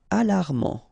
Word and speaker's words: alarmant: Alarmant. Final not pronounced.